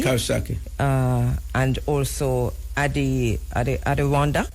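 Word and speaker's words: Coxsackie: And then C O X S A C K I E Kaki uh and also Adi Adandak Adak and Fish Fisk that was the last facility I was in before I came.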